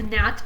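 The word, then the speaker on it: gnat: you wrap a present remember the G silent not a NAT is a fly or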